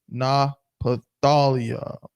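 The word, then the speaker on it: Naphtali: is an ancient hebrew the proper pronunciation that would have been called at the time is na pathalia apathy napathalya hebrew word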